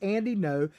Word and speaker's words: Ngo: story journalist andy no it's spelled ngo but it's andy no says mask antifa mob